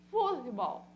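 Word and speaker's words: fútbol: portuguesa eu tenho futebol no português novamente eu tenho uma Oxi tona por se tratar da última sílaba neste caso eu tenho uma paroxítona na língua espanhola futebol futebol futebol ou seja a sílaba tônica ela aqui ela é paroxítona no português ela é oxítona Então o que são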